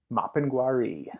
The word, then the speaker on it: Mapinguari: Mapinguari. Thank you. Yeah, yeah, absolutely. So the Mapinguari, and I might be butchering it, who knows,